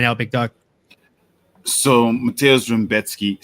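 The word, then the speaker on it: Rębecki: So Mateusz Raumbecki. So apparently it's Raumbecki, and that absolutely blew my mind. But it's Polish, so I guess that kind of makes sense because they pronounce things all kinds of crazy.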